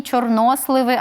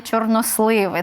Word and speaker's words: чорносливи: знаю що для багатьох українців новиною було те що в Україні чорноземи а не чорноземи що в Україні чорносливи а а не чорносливи так це подеколи дратує